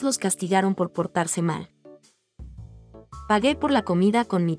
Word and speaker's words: pagué: Pagué. Pagaste. Pagó. Pagó. Again, notice there's a change in the yo form from G to GU before E to preserve the hard G or G sound.